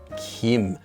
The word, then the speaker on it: 김: but it's of course when it's used in a last name it is always read as Kim now it wasn't always